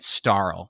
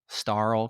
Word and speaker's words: Starl: It has an L in there after star, so I'm pronouncing it Starl, like Carl, but with a star. Starl Clan.